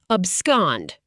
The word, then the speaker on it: abscond: Abscond. Pronounced ab scond.